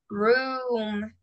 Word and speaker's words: room: Se pronuncia como una doble U. Room.